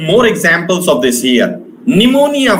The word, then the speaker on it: pneumonia: Pneumonia, for example. Pneumonia. This P sound is a silent.